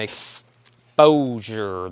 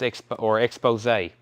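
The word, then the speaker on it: Exposé: Josh Duvall on Exposure. That's Expose.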